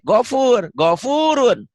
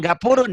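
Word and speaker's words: غفور: Baca gopur jadi gapur. Gak boleh. Gofurun. Bukan gapurun ya.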